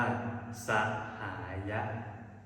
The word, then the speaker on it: สหาย: มั้ย กะ มะ ละ สหาย ภาษา บาลี จะ อ่าน ว่า สะหาย อ่า นี่ คือ การ